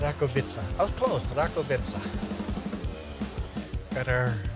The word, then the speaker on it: Rakovica: up r v ROV vitza that was close ROV vitza got our ROV vitza tractor here doing some beat harvesting I'll do